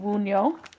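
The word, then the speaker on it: Wunjo: actually took notes this time on how to pronounce things, so I'm trying to grab that. That is the rune Wunyo.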